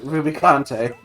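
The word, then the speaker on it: Rubicante: know you know steven it's probably pronounced ruby conte and you're like that's stupid shut up and then years later they came up with like the uh the voice acted game and lo and behold it is in fact ruby kante yeah yeah it's there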